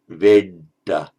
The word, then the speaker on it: Veda: That, by the way, in Sanskrit would have been pronounced Veda. So I explained in the earlier presentation on diacritics, the E is always long in Sanskrit. It becomes short in Pali if it's followed by a double consonant.